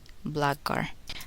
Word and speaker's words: blackguard: The letter k is not pronounced in the following words. Listen and repeat each word after the speaker. Know, knew, knowledge, knee, knife, blackguard.